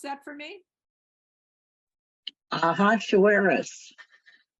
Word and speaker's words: Ahasuerus: Deborah, can you pronounce that for me? Ahasuerus. Ahasuerus.